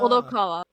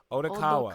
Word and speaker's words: Odokawa: Moth, how do you pronounce Otawara? Odokawa. Odokawa. Odokawa, as in the main character.